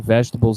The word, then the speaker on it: vegetables: Essa palavra vegetables, ela é tentadora para que a gente pronuncie errado, porque a sílaba tônica dela no português é diferente, né?